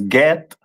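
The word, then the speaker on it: גד: Which is pronounced in the Hebrew as Get, and the meaning of it is troop.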